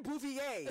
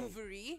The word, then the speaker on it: Bouvier: And I remember I was like, people will never be able to pronounce my surname, which is Yeah. Bouvier. Oh, it's actually Bouvier. It's 'Cause Bouvier. we go Bouvari. It's French, right? So Oh, most people do nice. pronounce Bouvier. it Bouverie, Yeah. but it is Bouvier.